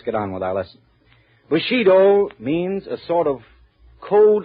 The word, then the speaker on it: Bushido: Bushido. Am I right about the pronunciation, interpreter?